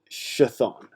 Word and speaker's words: Chthon: I think the name is pronounced Chthon. Chthon. Right? The reason I think that, I will get into this. So it's spelled Chthon. CH, so Ch or sh, Chthon. th, on. Chthon.